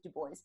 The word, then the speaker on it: Dubois: Her name was Ellen Dubois, spelled Dubois, but you're supposed to pronounce it Dubois.